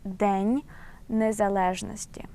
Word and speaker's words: День незалежності: And this phrase Independence Day we pronounce as День незалежності.